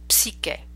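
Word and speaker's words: psiche: And in Italian, psyche's name would be pronounced psyche, PS.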